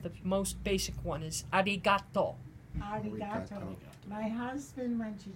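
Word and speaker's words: ありがとう: There are multiple variations, but the most basic one is arigato.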